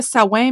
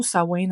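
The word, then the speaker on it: Samhain: parlé de Samain ou qu'on prononçait aussi sain dans la tradition ancestrale ça se prononçait sain mais ça s'écrit quand Mme S a m H a i n donc vous avez la liberté de prononcer sa main ou sa wi à votre discrétion par la suite on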